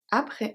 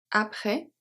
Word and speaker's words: après: Et détendu, après, S is silent.